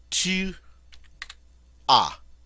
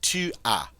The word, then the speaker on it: tu as: The second person singular form, or the you singular form, tu as. Notice as, but we don't pronounce the S.